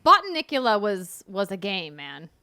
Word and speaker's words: Botanicula: their children because it's called i mean like button nicola was was a game man it was oh that's how you say it okay bought to nicula yeah play that one but yeah it looks